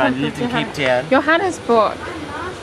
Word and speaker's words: Johannesburg: Joburg. I come from Joburg. No, I lived in Cape Town. Johannesburg. What? That's not how it's said. That's how it's said in German.